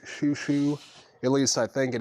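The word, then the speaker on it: Xiu Xiu: That's Xiuxiou. Pronounced Shushu.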